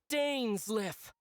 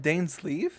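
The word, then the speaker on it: Dainsleif: It's not It's It's It's Dan's lift. That's how you say his name. It's not Dan's leaf.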